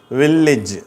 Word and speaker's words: village: மாதிரி கொடுத்திருக்கோம் பாருங்க ஓகேவா இதற்கு உதாரணமான வார்த்தை வில்லேஜ் சரியா இதை வில்லேஜ்ன்னு படிக்கிறாங்க தப்பா படிக்கிறாங்க உண்மையான உச்சரிப்பு வில்லேஜ் வில்லேஜ் சரியா ஏ என்ற எழுத்துக்கு ஈ அப்படிங்கிற உச்சரிப்பு கிடைக்குது வில்லேஜ் அப்படின்னு சொல்லிட்டு இதை நம்ம உச்சரிக்கணும் ஓகேவா ஈ என்ற எழுத்து வார்த்தைகள்ல